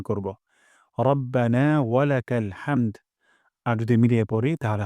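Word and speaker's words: ربنا ولك الحمد: কোন জায়গায় না থামার জন্য আমি আরেকবার পড়ছি রব্বানা ওয়ালাকাল হামদ আমার হাতে সবাই উচ্চারণ করবেন রব্বানা ওয়ালাকাল হামদ্বানা ওয়ালাকাল হামদ হামদান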